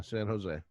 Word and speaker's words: San Jose: this s-a-n space j-o-s-c s-a-s-a-n-j so j-o-s-e yeah san jose no when i first moved down here i